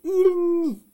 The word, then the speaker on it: n'y: Ça fait il nie. Le Y, ça fait le son I.